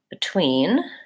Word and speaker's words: between: on that unstressed syllable so in the word between in the dictionary it's probably gonna say it's an e which is the vowel in it and did and different and in the word above this is the unstressed syllable it's gonna say that it's an O above the schwa vowel but when you listen